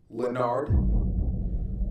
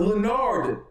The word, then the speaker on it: Lenard: The O is silent, Lenard. My name is not Lenard. It's Lenar. More like Lanier.